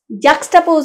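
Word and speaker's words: juxtapose: মানে পাশাপাশি স্থাপন করা জ্যাকটাপোজ মানে হচ্ছে পাশাপাশি উচ্চারণটা কিন্তু আবার শুনে রাখুন জ্যাক্সটাপোজাপোজ মানে পাশাপাশি স্থাপন করা জ্যাক্সটাপোজ এর সঙ্গে সেকেন্ড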